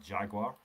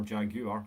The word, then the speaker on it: Jaguar: a Colt, a Titan, or a Jaguar, or Jaguar, I hate that pronunciation. It's one of those Americanisms that really gets to me.